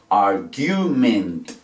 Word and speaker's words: argument: Separamos por sílabas, tiene tres. Esta E se dice normal porque esa sílaba termina en T. Esta A se dice normal porque esa sílaba termina en R. Pero en cambio la U, si hubo que hacer la U en inglés, ¿por qué? Porque esa sílaba termina en vocal. Y cuando la sílaba termina en vocal se pronuncia en inglés.